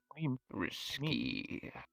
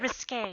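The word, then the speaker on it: risqué: risky. Risk. You mean It's risque?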